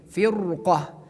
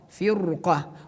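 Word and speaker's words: فرقة: But this is important to know that after ra we have the letter qaf. Qaf is belong to istilah letters. That's why that we have to pronounce this the letter ra here in tafkhim. Firqah, firqah.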